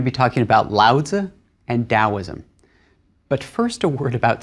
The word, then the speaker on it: Taoism: Chinese character hasn't changed the pronunciation hasn't changed it's just a different way of rendering that sound into English letters into the alphabet so it's Taoism and loads Taoism is